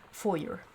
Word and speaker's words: foyer: to be here oh the foyer or as americans say foyer hey it's my hey it's one of the postcards i sent perry written on the 2nd of august 94.